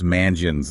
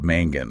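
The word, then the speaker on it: mangeons: G sound right so to preserve that soft G sound we add an E before the endings that start with a or o so the news form becomes mangion instead of Mangin exactly it's like we're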